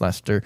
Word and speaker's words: Leicester: It's spelled Lester or Lester, but yeah, it's pronounced Lester.